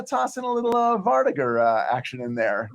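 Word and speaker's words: vardøger: heard who's brought up I always thought it was called the VAR dogger but vardiger is a much more elegant pronunciation but no no that's correct well I just it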